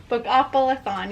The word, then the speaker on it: Bookoplathon: not just that i'm also participating in becca's book opelaphone is that how you say it bookoffullathon yes so i have this as well and